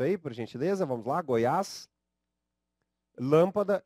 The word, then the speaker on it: Goiás: muito claros temos aqui a palavra Goiás aí faz uso do acento agudo som que mostra tonicidade na última sílaba e esse som é um som aberto né temos ali a